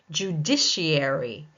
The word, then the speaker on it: judiciary: Judiciary, judiciary, second syllable taking the stress.